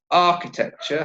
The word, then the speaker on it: architecture: Okay, so the word architecture, how many syllables? Architecture, 4 syllables, and the stress is on the first syllable.